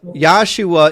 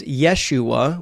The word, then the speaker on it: Yeshua: yua is a Mis yua is a mispronunciation of the actual name which is Yeshua which is a short